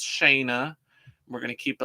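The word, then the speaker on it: Shanna: was shayna i had i've confirmed that her name is pronounced shayna we're gonna keep it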